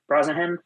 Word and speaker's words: Brosnahan: Rachel Brosnahan. Brosnahan.